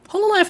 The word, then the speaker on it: Hololive: And speaking of which, since we talk about Hololive a little bit, so Hololive is Hololive. That's how everyone from Japan pronounce it.